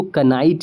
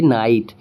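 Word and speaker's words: knight: तो हम इसको कनाइट नहीं पढ़ेंगे। क्यों? क्योंकि के बाद एन आया है और एन के बाद आई वोवेल है यहां पे। तो हम इसे पड़ेंगे नाइट।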